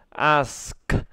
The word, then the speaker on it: ask: rồi thành ra nói nhiều lần là ask ask đấy đầu tiên nó thô lắm các bạn ạ thoải mái đi còn hơn n ông phát âm là át thế xong thầy nói vậy th chẳng biết